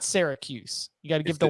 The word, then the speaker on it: Syracuse: need a podcast Sierra I've always gone but even like Sarah like syrup not Seer yeah Syracuse yeah Syracuse yeah there's there's got you got to respect the why okay it's not Syracuse you got to give